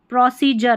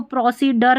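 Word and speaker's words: procedure: देखिए प्रोसीजर, अब इसको प्रोसीडर नहीं बोलते, प्रोसीजर।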